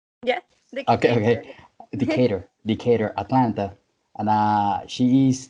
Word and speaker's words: Decatur: She's from Decatur, and did I say it right? Yeah, Okay, okay. Decatur.